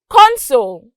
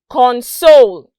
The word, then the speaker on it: console: a look at some examples our first example console notice that there was a rise con and